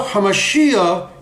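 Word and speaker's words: המשיח: 그 다음에 예슈아 하마시야 예슈아 메사야는 예수는 메시아라는 뜻이고, 예, 예슈아는 하마시아흐, 예, 하마시아흐, 그걸 빨리 하면 하마시아, 예, 그 다음에 예슈아 하마시아, 예슈아 하마시아, 하마시아흐가 하마시야, 저는 끝에 발음을 올려요.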